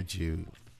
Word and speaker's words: Jude: Just call me Jude. Well, yeah. I think most There's a lot of good words that rhyme with Jude. Like crude, nude. You're right.